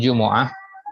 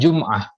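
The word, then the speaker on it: جُمُعة: Yaumul jumu'ah, hari Jumat, perhatikan bacanya jumu'ah ya, bidommil mim ya, bukan jum'ah.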